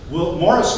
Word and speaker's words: Maurice: Will and Morris Thompson, spelled Maurice Thompson, pronounced Morris Thompson. The Thompson brothers, Morris was actually born in Indiana in 1844.